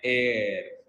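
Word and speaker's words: heir: HIR तो है ना, इसको प्रोनाउंस करते हैं एयर, और इसका मतलब होता है वारिस, ठीक है।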